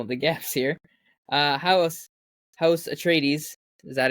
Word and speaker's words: Atreides: House Atreides, is that how you say it?